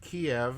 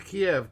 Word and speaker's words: Kiev: the 28th and it's datelined Kiev I insist on calling it by the name I learned it and of course I'm using the Russian pronunciation here doing so gladly